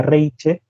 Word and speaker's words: Reiche: refieres a María que si lo pronunciamos este simplemente como sería en lengua española sería María reiche pero al ser ella de origen alemán sería Reich o algo todos le decimos María